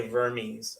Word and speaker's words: Vermes: say his name although most people say vermes I think it's vermesh and GZA vermesh so I have his